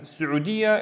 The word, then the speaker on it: السعودية: Don't forget the e part of it because we need to pronounce the ya. Di, ya. Let's do it again. السعودية السعودية and Saudiya is Saudi.